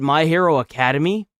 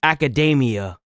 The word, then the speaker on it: Academia: You know what I didn't realize is that it's not it's weird because in in the anime itself they call it My Hero Academy, but the way this is pronounced is academia.